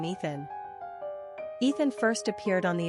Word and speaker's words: Ethen: The name Ethen is pronounced the exact same way as Ethan, so what's getting accomplished exactly?